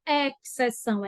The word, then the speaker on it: exceção: tem X então é exceção excesso muita gente se confunde dessas palavras SS Lembrando que essas palavras não se fala exceção é exceção excesso esse X Ele é mudo mas na musiquinha a